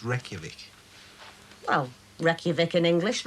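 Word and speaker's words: Reykjavík: the capital of iceland reykjavik nearly that's right rake jarvik reykjavik it's pronounced reykjavik well reykjavik in english reg jarvik and icelandic right reykjavik marie it's pronounced reykjavik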